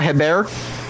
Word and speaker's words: Hebert: Kyle Hebert. Wait, spell it out for me. I'm writing it down. Kyle, and then last name is Hebert, so like Herbert.